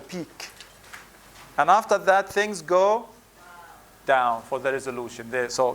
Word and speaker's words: Godot: play is waiting for godo and the T is silent waiting for silent T